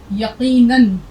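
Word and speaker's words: यक़ीनन: यहां हमने दो ज़बर, तो नून दो ज़बर नन, रे दो ज़बर रन। यहाँ अलिफ की आवाज़ नहीं निकलेगी, अलिफ साइलेंट है, यहाँ भी अलिफ चुप है, खामोश है। तो फे वाव दो ज़बर फौ, रे अलिफ दो ज़बर रन, फौरन, यकीनन। तो ज़िम्नन, जैसे एक लफ्ज़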